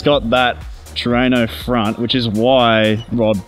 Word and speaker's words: Trueno: Trueno. I was rushing up on my knowledge last night, and that right there is a Trueno. I can tell you that much. So it's got that Trueno front, which is why Rod Thingo Isn't there?